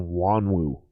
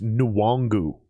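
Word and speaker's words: Nwangwu: coach look it up i don't know why they keep calling him wanwu it's nuwangu his name is kenei nuwangu and they keep saying wanwoo god american white dudes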